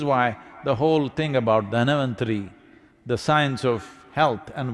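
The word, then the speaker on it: Dhanvantari: It is Dhanavantari's Trayodashi. North Indian people must connect, don't go on clipping away one syllable and come Dhanavantari becomes Dhan, Trayodashi becomes Tera.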